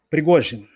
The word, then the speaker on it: Prigozhin: Assim é a pronúncia, Cristiano? Prigozhin.